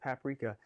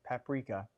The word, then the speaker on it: paprika: I read something the other day that the correct pronunciation is paprika, but I refuse to say that. So 2 teaspoons of paprika, because I'm from the South. Paprika. I grew up, they said paprika. They added an extra syllable in there.